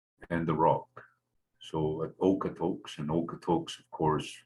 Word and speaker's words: Okotoks: So at Okotoks, and Okotoks, of course, we all know it's mispronounced. It's supposed to be Okotok, not Okotoks. That often happens when our words are anglicized, they sound different.